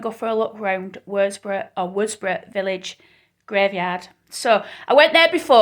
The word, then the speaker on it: Worsborough: Oh, so, this is Worsborough Village. That's how it's pronounced locally. It's, if you... An older me, you'd said Worsborough because you'd say it in full.